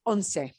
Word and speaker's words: once: one through ten combos okay uh eleven is onsei it looks like the english word once but it's pronounced well does it look like uno not